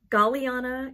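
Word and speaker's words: Galliana: before the bookshelf it's gorgeous check it out galiana is on etsy it's spelled g-a-l-l-i-a-n-a cross-stitch designs on etsy this is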